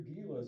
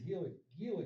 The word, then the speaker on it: Gila: So it was Gila County, not, or they pronounce it Gila? Gila. Is that how they pronounce Yeah.